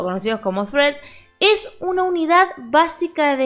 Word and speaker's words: threads: Mucha gente dice threads, un montón de pronunciaciones, pero la pronunciación correcta es threads, ¿sí? Porque siempre se hace la duda de cómo pronuncio Luisina. Bueno, en este caso es threads, ¿ok?